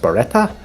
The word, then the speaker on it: Barretta: I think that's pronounced Barretta. Yep, that's it.